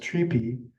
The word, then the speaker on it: tree pie: This is a tree pie. Sometimes it's pronounced treepie, but our guides called it a tree pie.